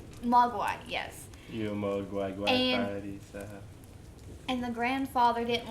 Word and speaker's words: Mogwai: called gizmo and which is how do you pronounce what he is cuz I can poke Y mock Y Mogwai yes and the grandfather didn't want to sell